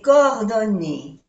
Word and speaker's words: coordonnées: Mes coordonnées. No se pronuncia ni la E que es de femenino, ni la S que es de plural.